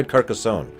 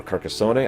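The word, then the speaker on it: Carcassonne: brief we also try carcassone or carcassone I've actually heard it pronounced both ways carcassone is actually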